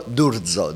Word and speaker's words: D'Urzo: Pronounce it for me. Say your last name. Durzo.